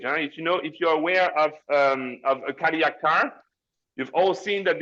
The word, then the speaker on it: Cadillac: all of you, that it's not how you pronounce it. You pronounce it Cadillac. So next time you see a car like this, it's not a Cadillac, it's a Cadillac.